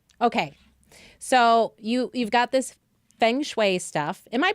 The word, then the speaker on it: Feng Shui: that that's amazing okay so you've got this Feng Shui stuff am i pronouncing it correctly feng shui or function you're pretty close it's Fung I'm fine as if it were you Fung Shui Fung Shui got it yeah and it actually